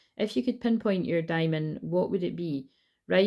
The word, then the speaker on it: daimon: Daimon, sorry, is how you say it. No daemon, that's like the devil.